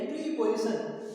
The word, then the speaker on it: preposition: तो इसको प्रीपोजिशन अपन पढ़ सकते हैं, लेकिन इसका जो करेक्ट प्रोनाउंसिएशन है वो प्रेपोजिशन, ठीक है ना, प्रेपोजिशन।